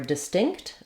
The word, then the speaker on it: distinct: more basic pronunciation details for distinct we're stressing on the distinct syllable and our that means our first vowel is going to be again A reduced vowel the e sound de so we don't want any